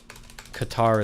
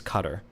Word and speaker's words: Qatar: I I feel like I've been told over and over again that's how it's pronounced. Qatar is not correct. I don't believe. I'm pretty sure it's cutter is the pronunciation for this.